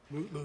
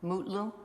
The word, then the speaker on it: Mutlu: Is it Metloo or Mutloo or how do you pronounce his last name? Mutloo, your honor. Mutlu.